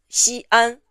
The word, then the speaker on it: Xi'an: One for Xi and another one for An. Don't write them like this. If written like this, people would read Xian and not Xi'an. These are two individual syllables, not one.